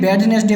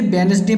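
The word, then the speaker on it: Wednesday: Bridge में आप देखिए तो डी को हम साइलेंट करते हैं, और वेडनेसडे में हम लोग क्या पढ़ देते हैं? बैडनेसडे पढ़ देते हैं, लेकिन उसे वेडनेसडे पढ़ा जाता है।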